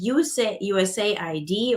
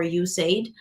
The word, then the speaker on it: USAID: heat action checklist, and a USAID or USAID, however you like to pronounce it, both works, toolkit for global heat impacts.